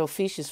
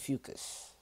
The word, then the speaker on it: Ophiuchus: store for ucus to I've been calling it officious for the longest time not for nothing uh I think oisha sounds better but that's not how you say it it's ucus so if you're born at